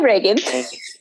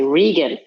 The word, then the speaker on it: Reagan: now anyway hi hi reagan hi it's slime that's great at least you get my first name right people of the year often mispronounce my first name and say regan so that's funny reagan